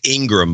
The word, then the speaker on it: Ingraham: It's Ingram, by the way. I thank you. I love Ingraham, though. This is what it looks like. That's exactly how you spell it, Ingraham.